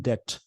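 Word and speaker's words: debt: आगे देखते हैं, with all his wealth he इज इन डेट। इसमें बी साइलेंट होता है, डेट बोलते हैं इसको।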